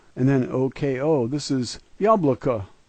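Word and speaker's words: яблоко: This is yabloko, yabloko.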